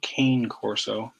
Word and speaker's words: Cane Corso: two big dogs one of them is a Connie Corso some people pronounce it cane corso which is the big Italian Mastiff that we